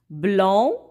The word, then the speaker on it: blanc: Blanc, blanche féminin, blanc avec C ne se prononce pas au C à la fin, muet, donc c'est masculin, j'entoure.